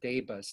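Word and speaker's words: DABUS: about in a second that i think it's pronounced debus d-a-b-u-s it was allegedly or or at least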